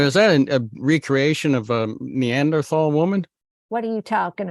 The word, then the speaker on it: Neanderthal: we're thinking here uh neander th TH or Neanderthal you you pronounce it for me boss I'm in Canada neander tall neander tall okay or fall right um I read a